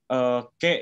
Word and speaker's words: che: Sedangkan kalau apa itu ke ya Kak. Kalau apa itu artinya ke ya, boleh dicatat ya. CHE. CHE ya, itu ke bacanya ya. CH itu kita bacanya seperti K.